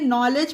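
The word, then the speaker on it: knowledge: नॉलेज, के बाद एन आया है तो इसे नॉलेज पढ़ेंगे।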